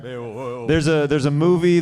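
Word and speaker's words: Beowulf: She's like, "Give it to me, Bearwolf." Bearwolf. What is it? What is bearwolf? Baolf, I think. Spell it. B E O W U LF.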